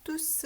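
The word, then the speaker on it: tous: 영사를 받아 주는 거죠 대명사 일때만 s 발음을 해 주는 거예요 그래서 투스 라고 발음해 주조 쥬스 라고 발음이 됐다는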